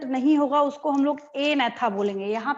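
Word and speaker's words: Agnatha: एनेथा, जी नहीं बोल रहे हैं हम यहाँ पे, कई लोगों को मैंने देखा एगनेथा बोलते हैं, बट यहाँ पे जी साइलेंट होता है, ठीक है।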